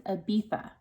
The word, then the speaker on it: Ibiza: It's Ibiza. Ibiza. It has a Z, but do not be fooled.